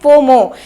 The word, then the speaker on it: FOMO: ऐसे ही फोमो को हम लोग FOMO लिखते हैं, लेकिन हम लोग उसे प्रोनाउंस करते हैं फोमो, जिसका मतलब होता है फेयर ऑफ मिसिंग आउट।